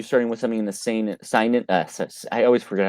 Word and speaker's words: seinen: Well, I think honestly for you, I'd highly recommend you starting with something in the seinen. I always forget how to pronounce it.